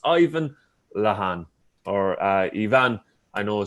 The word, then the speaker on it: Lehane: correctly so it's ivan lahan or uh ivan i know sometimes my my first name is quite uh eastern european or central asian uh or origins but my surname is irish because i am originally